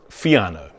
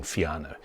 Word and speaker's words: Fiano: Its name is Fiano. Now, that's the number one step. It's really easy to pronounce.